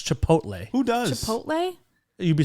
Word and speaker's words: Chipotle: and Team Darren, you get free guacamole at Chipotle. at where? Chipotle? Nope. How do you not know how to say it? No one does. It's so weird. Most people say Chipotle. They don't. It's Chipotle.